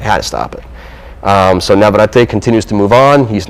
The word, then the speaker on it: Navarrete: Navarrete.